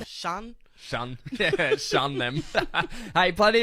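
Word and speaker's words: Sean: e a n right what do they scene could be seen seen yeah that's not my name Shan Shan Shan them hey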